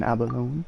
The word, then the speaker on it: abalone: You have to pronounce the E, are you kidding me?